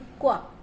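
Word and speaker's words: qu: उनको, क्यू, क्वा, तो क्वा, इनको क्यू यू को क्वा पढ़ना है, इसका प्रोनाउंसिएशन क्वा होगा। क्यू यू साउंड्स क्वा, जो बेसिकली उसका आपका फोनिक साउंड होता है वही है।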